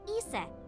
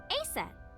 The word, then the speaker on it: Aset: Horace's mom is named Isis, but in ancient Egyptian, it's pronounced closer to Iset or Aset.